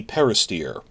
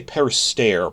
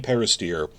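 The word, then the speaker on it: Peristere: Lonnie Peristeer. I used to say Peristair, but then I saw the video, he pronounces it steer, like the heifer, so Lonnie Peristeer, who some of you may know from Netflix's The Witcher series.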